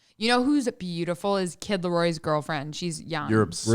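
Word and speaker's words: Kid Laroi: You know who's beautiful is Kid Leroy's girlfriend.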